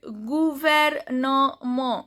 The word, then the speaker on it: gouvernement: So examples are gouvernement, gu, jo, OU, U. Gouvernement, MENT is silent.